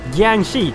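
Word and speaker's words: Jiangshi: Undead Asian vampires that's all they did um Gangi that's how you pronounce them I couldn't remember remember the right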